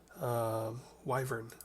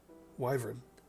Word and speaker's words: wyvern: about wyvern armor and they called it wyvern armor with the I sound I thought is that